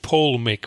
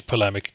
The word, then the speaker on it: polemic: common English word it turns out most people pronounce it Paul make rather than polemic um I don't know why people do that but it is polemic digital polemic as in a strongly worded argument